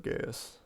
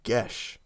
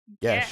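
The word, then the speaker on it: geas: Have I heard of Gaius? Okay. Or geese? What is the correct pronunciation?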